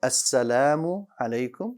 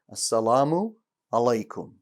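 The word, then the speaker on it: السلام عليكم: that's how sometimes you hear people that are pronouncing uh lam with an english l instead of saying assalamu alaikum they say a salamu alaikum they use the l in its place the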